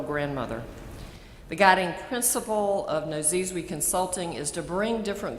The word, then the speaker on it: Nozizwe: Tutu established Nozizwe, she told me how to say this, Nozizwe Consulting, her own consulting business. Nozizwe means mother of many lands, in her mother